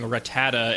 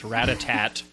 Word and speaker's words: Rattata: age kids running around mispronouncing Rattata and thinking it's Ratatat all day.